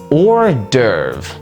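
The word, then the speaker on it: hors d'oeuvres: Staying on the topic of French words, we can take a look at our fifth word of this video or derve. Yeah, this word is spelled extremely weirdly.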